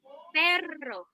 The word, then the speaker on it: perro: You roll your R's if you see double R's. Oh, okay. So It's not perro, right?